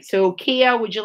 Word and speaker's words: kea: this time i'm going to introduce you to kia i wonder if the kids at home have